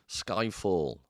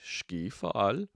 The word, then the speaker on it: Skyfall: an English word, and it's actually from Swedish, Skyfall. Or I think a proper Swedish pronunciation might be Skyfall.